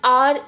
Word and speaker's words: hour: are I came an hour earlier today R starts with h no doubt but in our pronunciation it's sounds as if we are using a vowel in the beginning lines H is silent o u r hence